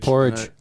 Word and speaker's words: Powerage: Does everybody pronounce that album Power Age? Well, there's Powerage. I've heard Power Power Age. Age and Power Age. Porridge.